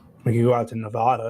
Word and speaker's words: Nevada: you go out to nevada it's nice and dry out there it's just hot as hell you know says i said nevada wrong it's nevada she's from nevada so